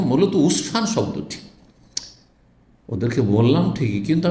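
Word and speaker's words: عسفان: শব্দটার উচ্চারণে আসলে জায়গাটি আসফান না উসফান এ কিছুদিন আগে এক ভাই আমাকে যে এয়ারপোর্ট পৌছাচ্ছে একদম মাস আগে গেছিলাম সফরটা সেও আসফান বলে উঠেছে তোমার আসফান কেন বলছে এটা তো উসফান তো আমরা তো জানি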